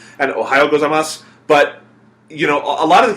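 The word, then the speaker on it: ございます: kids I could tell kept putting the U on gozaimasu, because it's spelled gozaimasu, but in most dialects of Japanese, you leave the u off, or you just sort of... Yeah, you just sort of kind of almost imply it.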